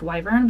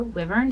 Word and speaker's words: wyvern: And I know it's supposed to be pronounced wyvern, but I prefer wyvern, so that's what I say.